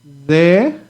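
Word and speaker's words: זה: Remember the hey is silent, so no sound for the hey at the end.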